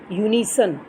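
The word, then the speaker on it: unison: Next है आपके students यूनिसन। अब यूनिसन में किसकी साउंड आ रही है?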